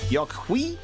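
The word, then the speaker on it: Yok Huy: Yokwi is how they say it in a game.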